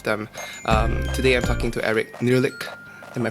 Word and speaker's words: Nehrlich: Today I'm talking to Nehrlich. Am I pronouncing that correctly?